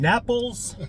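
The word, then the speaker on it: Naples: me we converged on napples Florida rhymes with apples we are checking out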